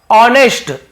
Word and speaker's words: ऑनेस्ट: वो एक जिम्मेदार और ऑनेस्ट, एच यहां पे साइलेंट होता है, इसे पढ़ते नहीं है, लिखते जरूर लेकिन पढ़ते नहीं, केवल इसे पढ़ते हैं।